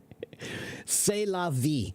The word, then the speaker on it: c'est la vie: I'm not a French teacher, but I know how to pronounce that. C'est la vie.